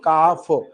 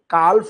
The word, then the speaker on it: calf: What is the plural of काफ? CALF, काल्फ लिखते हैं पर एल साइलेंट पढ़ेंगे, हम पढ़ेंगे काफ।